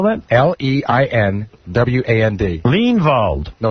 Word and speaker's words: Leinwand: By the way, Alan Limewand is our new general sales manager. Alan Limewand? Limewand? Leinwand. Now we know why you mean. Mine want what? Spell that? Leinwand.